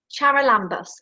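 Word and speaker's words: Charalambous: to be joined by chara lambos have i pronounced your surname yeah yes how are you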